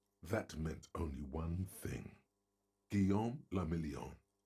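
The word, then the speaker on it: Guillaume Le Million: For Revachol, your city, that meant only one thing: Guillaume Lamillion. If it doesn't rhyme, you're not pronouncing it right.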